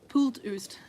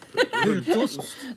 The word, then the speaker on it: pultost: pooltoost. Not what you think it is. Pultost. Not pooltoost.